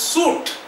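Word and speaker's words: suit: টার যে একটা করে জিনিস এটার নাম হচ্ছে সুট এস ইউ আই টি টি অনেকে সুইট কথাটা বলে বাট সুইট নয় এটা সুট স্পেলিং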